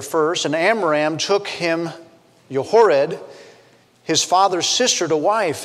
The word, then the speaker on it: Jochebed: As we say it in the American English language, her name actually is pronounced Jochebed.